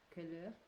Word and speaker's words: couleur: Couleur. Yeah, with the ou.